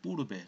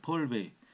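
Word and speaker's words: Pourbaix: 불어식으로 발음하면은 뿌르베예요, 뿌르베. 근데 미국에서 전자전기학 배울 때그 교수님이 영어식으로 해서 폴베이라서 폴베이, 폴베이. 엑스는 또 발음하지 않더라고요.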